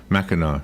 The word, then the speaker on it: Mackinac: it said that way so now we're yeah Mackinac yeah Mackinac that must be French I guess